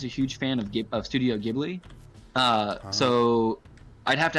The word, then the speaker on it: Ghibli: but pretty influenced by studio gym it's ghibli i can't even pronounce